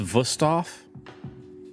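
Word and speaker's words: Wüsthof: It's pronounced Wusthof.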